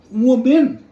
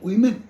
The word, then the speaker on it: women: Mind it ইজ নট ওমেন, ইট ইজ উইমেন।